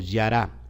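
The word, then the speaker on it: ירה: Yud, Reish, Hei, y se pronuncia como yará.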